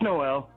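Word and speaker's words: Noelle: It's spelled with 2 L's and an E at the end. So, is it Noel? Is that correct? It's Noel.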